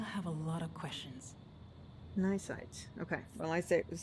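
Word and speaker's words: cnidocyte: Nysite.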